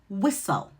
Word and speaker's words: whistle: When you see the STL together, the T is silent, like whistle.